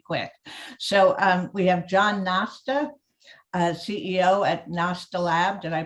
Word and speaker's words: Nosta: So we have John Nosta, CEO at Nostalab. Did I pronounce it correctly?